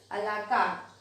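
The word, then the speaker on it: à la carte: You will pronounce this a la carte.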